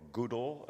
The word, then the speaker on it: GDAL: And the first speaker is Evan Riewol, key developer in GDAL and Proj, I should say, or Goodall, as some other folks pronounce it.